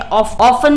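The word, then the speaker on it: often: जैसे आर में क्या है, एच साइलेंट है, ऑफन में है टी साइलेंट, राइट में डब्ल्यू, इसमें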